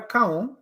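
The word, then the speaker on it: Koung: Washington, I mean, I was one of those who even Jeremiah Cowan, and that's the correct pronunciation of his name because he's darkened from my town.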